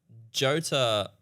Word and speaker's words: Jota: Another thing you want to mention is you have Jota Automotive. Did I pronounce that right? I was trying to work out why it's It'd Jota. be Yeah, Ota, wouldn't it? What? Jota Oh, Jota. Automotive. Ota, Yeah, Ota.